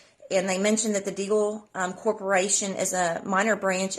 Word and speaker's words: Deagel: So, but I've listened to some different videos, and it's pronounced Deagel Report.